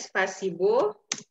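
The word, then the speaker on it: спасибо: MP3 spasi baya spasibo tulisannya spasibo tapi kita bacanya Space Hai jadi penekanannya di huruf e e pas si banget nah huruf o yang dibelakang dia tidak kena penekanan jadi dia menjadi seperti a juga spasi bab spicy ba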